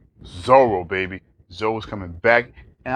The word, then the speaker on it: Zoro: It rhymes with Bolo. Zoro, baby.